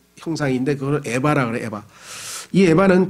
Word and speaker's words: 에바: 그걸 에바라 그래 에바이 에바는 제사장의 의복인 에봇과 다른 에봇이 아니고 조심하십시오 발음을 에바라고 하는 히브리어인데요 바구니와 바구니 근데 그